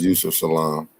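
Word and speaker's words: Yusef Salaam: name right am I saying it right yes Yousef Salam Yousef Salam wins New York City Council seat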